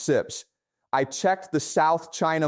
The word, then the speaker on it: CIPS: I pulled the Atlantic Council data on SIPS, pronounced SIPS.